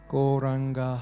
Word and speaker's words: Gauranga: Gauranga has 4 syllables. Go, Ra, Anga.